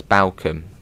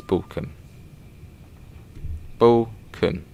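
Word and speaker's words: Balcombe: balkan and i've heard a lot of people pronounce it as balcomb ah now it's balkan bull yes not too far to balkan station obviously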